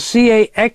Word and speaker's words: caxixi: There's an instrument in Brazil called caxixi, spelled C-A-X-I-X-I, pronounced caxixi, and they're used with an instrument called the birimbá, which is a bow that gets an interesting sound.